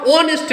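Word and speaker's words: honest: से स्टार्ट हुई है लेकिन एच इसमें साइलेंट होगा और इसका उच्चारण ऑनेस्ट बन ओ ओ तो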